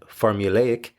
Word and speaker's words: formulaic: It's a little bit tricky to pronounce, but also fun if you can manage it. Formulaic.